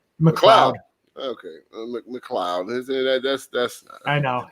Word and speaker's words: McLeod: The Mick, you know what I'm saying? The Mick is dominant, and then the L. Come on, man. All right, so McLeod, right, out there doing his stuff.